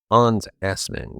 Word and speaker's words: Hans Assmann: Hans Assmann. Yes, that's his real name, and yes, it's pronounced exactly how you think it is.